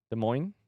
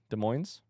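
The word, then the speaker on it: Des Moines: It has an S, but it's not pronounced.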